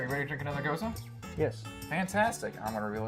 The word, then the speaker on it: Gose: beer that is almost the same pronunciation but it's spelled g-e-u-z-e I believe and this is goza g-o-s-e is there a difference in the the